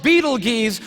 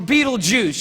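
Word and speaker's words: Betelgeuse: heard about this star it's called Beetle Gees or beetle juice you can pick your pronunciation I'm obviously going with Beetle Juice and Beetle Juice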